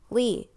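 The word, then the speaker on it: 鲤: Saying that syllable with the tone of voice dipping and then rising in pitch meant carp, but saying the same syllable with the tone of voice falling from a high to low pitch, it meant advantage.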